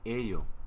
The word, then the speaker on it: 예요: Porque se escribe yeyo, pero se pronuncia ello.